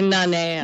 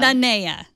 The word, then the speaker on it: Nanea: Nanea is the CEO of TRIPP, a mood-altering VR platform. Welcome to the show. Hi. So how are you guys? Thanks for having me. It's actually Nanea. Nanea. Sorry.